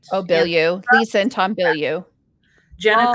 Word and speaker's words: Bilyeu: I never pronounce her name right. Oh, Bilyeu.